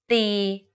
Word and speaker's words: ตี: For example, ติ and ตี The first word ติ with the shorter sound means to criticize. If you say it a bit longer, ตี it means to hit.